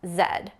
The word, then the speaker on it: Z: And while we're on letters Z in British English is pronounced Zed.